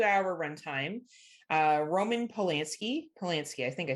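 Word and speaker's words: Polanski: about a two hour runtime uh Roman palansky palansky I think I said it right yep uh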